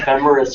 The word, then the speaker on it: Ephemeris: Ephemeris for Ephemera. Singular, yes. Ephemerides for plural.